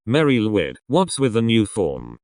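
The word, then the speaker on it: Mari Lwyd: but I am she it's called a Mary lid she said pronouncing the latter term like the name Lloyd meaning blessed Mary it's the equin symbol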